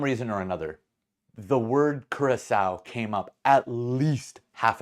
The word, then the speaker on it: Curaçao: want to be that guy that's like, it's pronounced Curaçao.